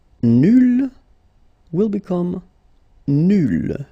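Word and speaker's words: nulle: Nul will become nul. So phonetically it's the same, but then you double the L and you put at the end. Okay, so nul and then nul. Phonetically it is the same thing.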